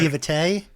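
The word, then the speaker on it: naïveté: Yeah, it's like naivete.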